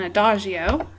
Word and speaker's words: adagio: or AIO okay and here are the different pronunciations and we usually in music say the second one a doio okay so somebody could